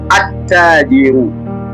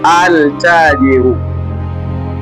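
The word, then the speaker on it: التاجر: Herufi ya kwanza ni ta. Tunatamka atajiru.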